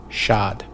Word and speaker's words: Chad: English as Chad um the French don't pronounce the the T and that so in English we just heard the French pronunciation Shad of course Lake Chad